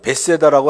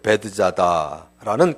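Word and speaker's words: 베드자다: 예루살렘에 올라가신 적이 있었죠 우리는 베세다라고 알고 있는데 이제 새 번역에는 발음 그대로 이제 베드 자다라는 그런 그 모세에서 연못에서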